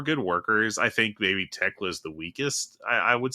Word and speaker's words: Thekla: But by the way, it's Tekla, not Thekla.